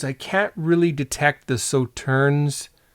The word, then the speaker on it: Sauternes: And on the nose, I can't really detect the sauternes. Sauterne, I think you don't pronounce the last S.